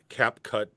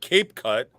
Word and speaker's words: CapCut: never heard of cat cap cut before you i even said it wrong last week yeah i call it cape cut which i even said it wrong yeah but now i'm saying cap cut yeah exactly but i